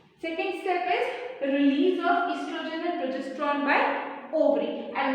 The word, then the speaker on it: estrogen: As you can see, the pronunciation of this word is estrogen. The O silent. So these two hormones, they are released by ovaries. Now why are they being released by ovaries? Estrogen and progesterone, they stimulate